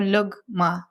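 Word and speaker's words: لقمة: So lugma um is the way we pronounce it. And luggma means a bite.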